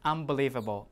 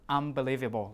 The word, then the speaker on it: unbelievable: When in fast speech, people usually pronounce it as unbelievable, unbelievable, like that. So you have M again, instead of just N.